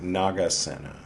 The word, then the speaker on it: Nagasena: I've been getting his name wrong. Nagasena.